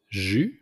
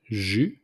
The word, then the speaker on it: jus: Juice, it's jus. So we don't pronounce the S at the end, it's simply jus.